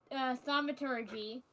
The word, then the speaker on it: thaumaturgy: So, first off, I'm going to try to use thaumaturgy.